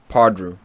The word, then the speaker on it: Pardew: Kevin, do you think Pardrew? Pardew? Pardrew. I always say his name wrong.